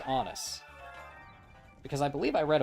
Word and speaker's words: Honus: in baseball time and supposedly it rhymes with honest, but it was a fictional book so I It's Honest Wagner.